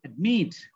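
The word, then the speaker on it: admit: তো নিয়মটা হচ্ছে অ্যাডমিট উচ্চারণ করার সময় উচ্চারণ করতে হবে কি অ্যাডমিট।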